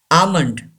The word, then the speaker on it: almond: almond yes an assignment don't pronounce L almond and a gives a long sound a key lamby Ava's